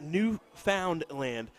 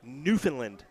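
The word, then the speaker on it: Newfoundland: Bron saying it's pronounced new found land buddy I got harassed for saying New Foundland it's uh I heard it's newfinland newfinland as Jacob Taylor would say little emphasis on the land but then again I'm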